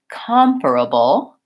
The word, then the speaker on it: comparable: air here and compare because the second syllable is stressed in comparable the first syllable is